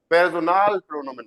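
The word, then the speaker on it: Personalpronomen: तो देखो, पर्सनल pronoun को जर्मन में क्या बोलते हैं, पेर्सोनाल, पेर्सोनाल प्रोनोमेन बोलते हैं, पेर्सोनल प्रोनाउन। पेर्सोनाल प्रोनोमन। हिंदी में, इंग्लिश में क्या हो गया, पर्सनल प्रोनाउंस।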